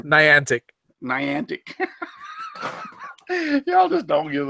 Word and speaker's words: Niantic: Speaking of mispronunciations, is Nitanic still out there? Nitanic, or you mean Niantic?